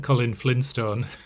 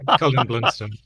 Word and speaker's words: Colin Blunstone: Is it Colin Blunstone? Am I pronouncing his name correctly? Yes, or as Sharon's mum thought we said, Colin Flintstone. Yeah, no, Dear. Colin Blunstone.